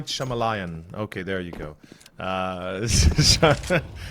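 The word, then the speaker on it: Shyamalan: I I heard apparently m m sh M shalam Liam um yes oh my God I hate that name because I can't pronounce it properly sorry M shamalan okay there you go uh I I I'm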